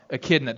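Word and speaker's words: echidna: I think I think it's a kidna. Akidna. There you go. That's what it is. Akidna. I knew I was saying it wrong.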